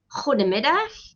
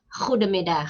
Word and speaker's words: goedemiddag: It's goedemorgen, goedemiddag, and goedenavond. Some people pronounce the letter D, goedemorgen, goedemiddag, goedenavond. And some people pronounce it as goedemorgen, goedemiddag, goedenavond. That's also correct.